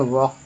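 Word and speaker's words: walk: एल के से word meaning है, जैसे कि क्या हो जाएगा, डब्ल्यू ए एल के, क्या बोलते हैं, वॉक, वॉक है ना, CALM क्या बोलते हैं, काम, SIGN क्या बोलते हैं, शाइन, LODGE क्या बोलते हैं, लॉज।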